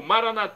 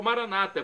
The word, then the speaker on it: Maranata: e agora do aramaico Eu Clamo maranat como dizemos nós católicos ou Maranata como dizem nossos irmãos separados os evangélicos ou protestantes não importa pronúncia o significado é o